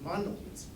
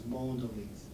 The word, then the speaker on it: Mondelēz: were talking a little bit about the proper pronunciation of mondones and um he informed me that that is